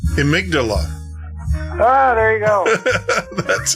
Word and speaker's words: amygdala: he sits and teaches me how to say amygdala.